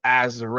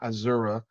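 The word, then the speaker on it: Azurá: I just learned that's how you pronounce her name is Azure. It's not Azura.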